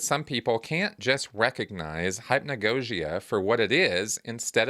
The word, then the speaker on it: hypnagogia: Okay, hypnagogia. Now, I might be mispronouncing that for some folks out there. I looked it up, actually, so I think I'm saying it right.